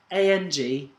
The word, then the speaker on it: Angkor: No, it's spelled ANGKOR.